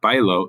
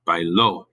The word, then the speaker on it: bailó: Notice that O with an accent, that actually changes the pronunciation. In Spanish, if you want to go back to the present tense, not this, but you go back to the present tense, to say I dance, that's bailo. It's spelled the same, except this one has an accent. This is not bailo, it's bailo. There's an actual stress at the end.